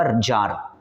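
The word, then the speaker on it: tsar: तो इसका पढ़ने से सन जो है तसर भी हो सकता है जर भी हो सकता है लेकिन रियल में होगा जर जी तरह से रितिक रोशन में देखिएगा एक्स साइलेंट है तो टी यहां साइलेंट है ठीक है तो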